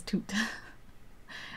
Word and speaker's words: Tut: You pronounce it as Toot.